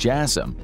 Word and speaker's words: JASSM: Known as the AGM-158 Joint Air-to-Surface Standoff Missile or JASSM (pronounced Jass-um), it is a marvel of airborne weapons technology that has been in the making for decades.